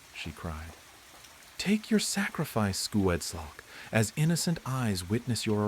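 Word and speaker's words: Sgoueddslk: S G O U E D D S L K, pronounced Suged Silk.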